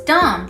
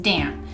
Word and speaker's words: Dam: ended this is thomas dom the inventor of trolls but for english speakers it's pronounced damn now he had quite